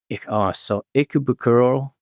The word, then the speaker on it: Ikebukuro: It's so Ikebukuro.